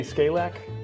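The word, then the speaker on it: Skalak: how do you pronounce and say your first and last name? So Scalac.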